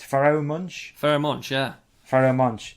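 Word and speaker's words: Pharoahe Monch: It's Pharoah Monch.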